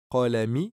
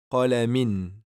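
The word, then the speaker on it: قَلَمٍ: On va le prononcer qalamin. Et qu'est-ce qu'on va faire? On va doubler al-kasratu. Ça donne qalamin. Ici, on a deux kasra. Et on va lire qalamin. Et non qalami. Non.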